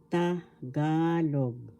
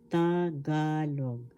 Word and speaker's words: Tagalog: First syllable ta. Second syllable ga. Third syllable log. The accent is in the second syllable. Tagalog. Tagalog.